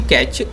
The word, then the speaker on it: cache: Uh this one pronounced like a physical from US currency. Catch.